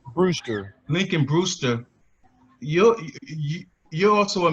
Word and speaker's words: Brewster: Brewster.